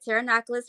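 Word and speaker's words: Pterinochilus: Pteronoculus marinus. Okay. And which is stupid because there's a P in front of a T, which is stupid. But Yeah, anyways. the P is silent, yeah.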